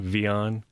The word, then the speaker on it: Wian: as as much because it's spelled with a W and we pronounce the W with a V sound oh okay so yeah it's w i a n vion vion yeah mm Foody